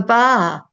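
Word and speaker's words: Ba': How do you pronounce that? The bar. The bar. It's short for ball.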